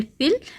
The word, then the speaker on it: feel: Then next is फिल, FILL फिल, भरना, फील महसूस करना, FEEL फील महसूस करना, तो दोनों को बोलते समय अलग तरह की साउंड आ रही है, प्रोनाउंसिएशन डिफरेंट है, फिल फील, तो आप इसको सर्कल करेंगे, ओके।